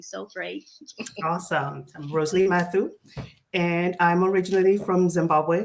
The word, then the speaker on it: Mathu: Roselee, I'm going to pronounce it right. Mathu. Mathu, that's correct.